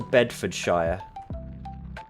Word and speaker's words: Bedfordshire: Now, obviously I'm saying Bedford Shire for the Americans in my audience. I would obviously, as an English person, say Bedfordshire. But to an American, I've got to say Bedford Shire like I say Yorkshshire when in fact every fiber of my being wants to just say Yorkshire.